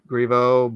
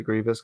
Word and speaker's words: Griveau: Yeah, I mean it's technically Griveau, but he pronounces it Grievous because it sounds cool.